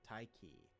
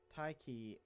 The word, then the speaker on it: Tyche: Tyche is a letter-swapped spelling of an ancient Greek word that represents the Greek deity of fortune, which is why I'm pronouncing it that way, by the way.